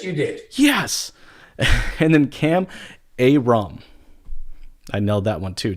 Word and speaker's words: Kam Ayrom: And then Kam Ayrom.